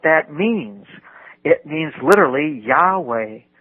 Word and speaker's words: Yahweh: It actually reads that those each one of those nailike figures represents uh a letter and it's pronounced Yahweh.